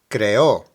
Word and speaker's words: creó: Now note that there's an accent on the O, so that is where you stress the pronunciation. Creó, creó.